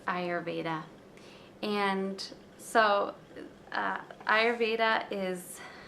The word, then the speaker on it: Ayurveda: and contentment into our lives so and it's pronounced ayurveda not ayurveda like you're asking are you Veda it's ayurveda and so uh ayurveda is um from ancient